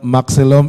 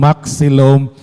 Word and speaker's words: Maxilom: and I like that his family name Maxum is related to is it Mah s mahilum okay because of the pronun pronunciation of the X and the H so those are actually